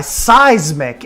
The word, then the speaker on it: Seismic: lodge themed Firewatch tower and make sure I pronounce this name right. It is... Okay, it is by Seismic, S-E-I-S-M-I-C.